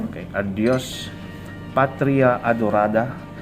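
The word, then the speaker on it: adiós: a particular word okay adios the accent is in the second syllable okay adios patria adorada region okay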